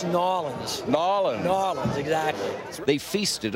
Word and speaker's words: New Orleans: and for everybody else who's watching it it's nins nin nin exactly they feasted on Cajun food